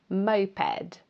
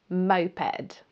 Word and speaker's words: moped: Moped. Remember to stress the first syllable. Moped.